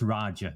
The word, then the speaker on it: Raja: uh in terms of butchering my name it's pronounced Raja but you know I've been called far far